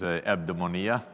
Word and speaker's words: eudaimonia: The idea for me is the economy of eudaimonia or I think the right pronunciation is eudaimonia in the way that Aristotle would have said it.